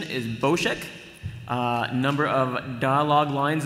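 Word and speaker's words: Bossk: Face Off is bosek so that's the official pronunciation is bosek uh number of dialogue lines in the script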